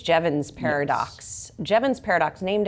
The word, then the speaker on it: Jevons: And I've been trying to figure out how to pronounce this. Jevons, I think it's Jevons paradox.